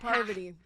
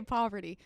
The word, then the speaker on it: Parvati: Oh, Parvati. Did it. I always want to say poverty.